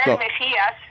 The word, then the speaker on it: Mejias: Whenever I talk to people who guest Mejias is technically how it's supposed to be pronounced, but yeah.